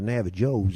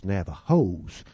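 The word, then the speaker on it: Navajos: to tell you now you don't pronounce the J out here like a j we pronounce it like an H you see it's not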